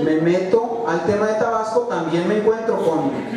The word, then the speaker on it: Tabasco: Tabasco, yo soy tabasqueño, yo sí pronuncio la S. Bueno, a veces se me va, la verdad, mi mujer me critica porque a veces platicando con tabasqueño se me va y digo Tabasco, pero bueno, o tabasqueño.